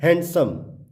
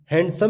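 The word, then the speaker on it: handsome: Rule बता रहा है कि जब किसी वर्ड के बीच में एन डी प्लस कॉन्सोनेंट होगा तो डी जो है साइलेंट हो जाएगा, अर्थात डी का उच्चारण नहीं होगा।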